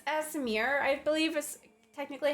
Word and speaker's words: Aasimar: Actually, it's Aasimar, I believe is technically how you say it.